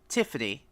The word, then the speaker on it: Tiffany: But it's pronounced Tiffany. The Thriftiony, but it's pronounced Tiffany. So Tiffany.